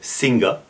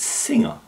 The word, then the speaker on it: singer: the word singer singer i've heard this spoken many times with the g being quite strong so singer but in fact it's singer she's a great singer the seventh word on